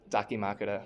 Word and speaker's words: Dakimakura: How do you pronounce it? Dakimakura.